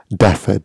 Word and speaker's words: Dafa: heard of fulan gong or flam daffa maybe pronouncing that wrong full angon f-a-l-u-n gong g-o-n-g or daffa d-a-f-a it's a Chinese spiritual exercise for the